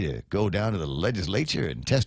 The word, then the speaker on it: legislature: to run by the legislature. And that is the correct pronunciation of it. Legislature. You got to put the right emphasis on the right syllable.